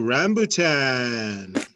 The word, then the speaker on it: rambutan: um next fruit on the menu oh rambutan but yet do y'all see this one